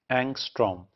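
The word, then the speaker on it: ångström: That is एंगस्ट्रो। वन एंगस्ट्रो होता है 10 की power - 10 metre. So this is pronounced as एंगस्ट्रोम।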